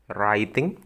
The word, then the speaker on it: writing: Seperti ini, writing, memang tulisannya reading, tapi bacanya writing. Huruf W ya itu hilang. Writing, I-nya jadi I.